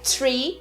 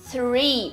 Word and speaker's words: three: pronúncia de 3, né, que não é tree, porque tree é árvore. Se você disser tree, pelo contexto as pessoas vão te entender, tá? Mas a pronúncia da palavra é three. Você tem esse TH antes do R.